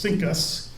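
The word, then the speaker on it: CINCUS: the US fleet was abbreviated C I N C US and pronounced Sinus and after Pearl Harbor,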